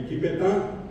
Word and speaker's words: Wikipetá: Como el guaraní tiene acento final, es Wikipetá. Como no tenemos la D, le pusimos la T.